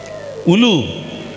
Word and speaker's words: হুলু: উলু? না, এর আগের কীর্তনে বলে উলুদা, মা মায়েরা উলুধ্বনি উলুধ্বনি, কথাটা উলু নয়, বইতে লেখা আছে হুলু। কি লেখা আছে? হুলু, আর উচ্চারণ হচ্ছে উলু।